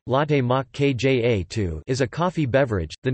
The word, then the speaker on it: latte macchiato: Latte macchiato, Italian pronunciation, latte mach kja 2, is a coffee beverage.